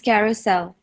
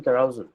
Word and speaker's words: carousel: you say it carel how do you say it AA you can unmute yourself and oh it's it's Carousel carousel okay all right perfect yes okay all right some I've heard people saying carousal okay so which is